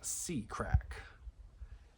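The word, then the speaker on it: CRACC: with Jack called crack CC r a c pronounced C crack in C crack documents located in National Archives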